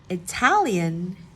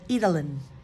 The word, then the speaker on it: Italian: it Italy Italy but Italian because the a is stressed in ITA ITA Italian it's stressed so it becomes Italian instead of italin italin so that was